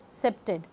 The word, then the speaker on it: CPTED: of life cpdt is commonly pronounced as septic correspondingly office of neighborhood